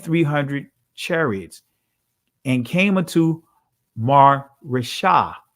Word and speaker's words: Maresha: of 1,000 and 300 chariots, and came unto Maresha, right? Or Maresha, right? That's the ancient pronunciation of it.